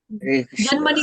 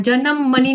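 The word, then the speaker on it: जन्मनि: बूढ़ा जन्मनी जन्म जन्म जन्म मनी का ना नी ह्रस्व करना है और जन्म का ज का न पूरा नहीं करना है जन्म मणि नहीं है जन्म मनी जन्म मणि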